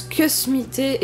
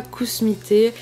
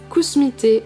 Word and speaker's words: Kusmi Tea: Il pense que ça se prononce que smité et pas cousmité. Et ben, je suis désolée de dire à cette personne que non, ça ne se prononce pas que smité.